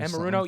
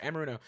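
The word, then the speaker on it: Anarumo: Amaruno. Yes, you said it right. Amaruno.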